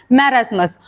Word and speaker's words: marasmus: Number दो मेरास्मस हां नाम प्रोनाउंसिएशन के लिए डिफिकल्ट लग सकते हैं। फिर भी इसको कहना है कॉशरकोर और इसको कहना है मेरास्मस।